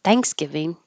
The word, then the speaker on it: Thanksgiving: open a jaw Thanksgiving usually compound words have stress on the first syllable like laptop cell phone eyeliner and this one is not Thanksgiving it's in giving Thanksgiving Thanksgiving that'll be